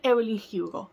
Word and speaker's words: Evelyn Hugo: Vamos a hablar sobre Los 7 maridos de Evelyn Hugo, o como lo pronuncian acá en inglés, Evelyn Hugo.